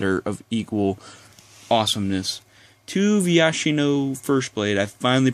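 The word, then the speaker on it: Viashino: To Vyashino First Blade, I finally pronounced his name right.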